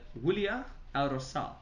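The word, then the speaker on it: Huila: again today from uh willia so i think jose who helped me just with a pronunciation that it's not an h we pronounce it as a w so i'm getting it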